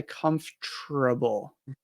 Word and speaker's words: comfortable: number of syllables, but I have the R sound in there. And this might not be standard because I've heard lots of people say that this isn't correct, but I say comfortable.